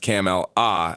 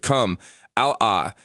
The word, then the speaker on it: Kamala: has recently insisted that her name not be pronounced camel a as in camera as she was called for decades but come ala as in come this is an additional reference